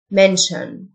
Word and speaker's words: mention: ينسى forget forget يذكر mention ال t i o n تنطق شن mention declare declare name name